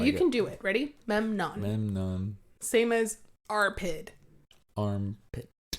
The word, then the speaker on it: Memnon: Is that how you say it? Yes, Memnon. My mouth doesn't want to do that. I know. It's weird to put an M and an N together.